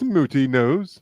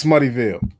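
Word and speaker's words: Smuttynose: It's pronounced Smooty Nose. I thought it was Smuttyville. Smutty Nose.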